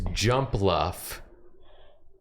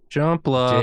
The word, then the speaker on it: Jumpluff: It's your Pokemon is Jumpluff. Jumpluff. J U M P L U FF. It's pronounced jump Luffy.